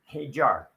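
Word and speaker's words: Hadjar: With Hajar. That's how you actually pronounce it. Hajar.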